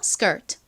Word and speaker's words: skirt: skirt. 좋습니다. 이렇게 S의 바로 뒤에 K가 오면요. 이 K는 좀 된 소리처럼 발음이 돼요. 그래서 skirt보다는 skirt 이렇게 거의 쌍기역처럼 발음이 납니다.